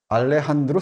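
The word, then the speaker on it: Alejandro: 데 여기는 원래 원래는 어 대니엘 디포가 소수를 쓰게 쓰는데 모티프를 제공했던 아 셀 알렉산드 알렉산더 셀커 알레한드로 셀커크라고 이제 스페인으로 발음하는데 알렉산더 셀커크가 표류했던 섬이요 근처예요.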